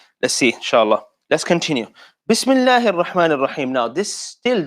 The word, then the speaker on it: Bismillah: Bismillah. As you can hear, seen is silent here. So it's not sa, it's not si, it's not su, it's s. That's why we add a sukun.